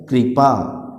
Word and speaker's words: कृपा: उच्चारण क्या होगा उसका, कृपा, कृष्णा, दृष्टि। समझ में आ रहा है, री का साउंड आ रहा है तो तीनों में क्या हो रहा है, री का उच्चारण हो रहा है, रिवाज में नहीं हो रहा है।